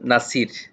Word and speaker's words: Nasir: It is, I think, both in the same Nasir.